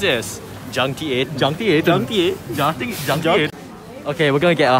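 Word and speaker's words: Juncti8n: So you pronounce it as Junkty 8.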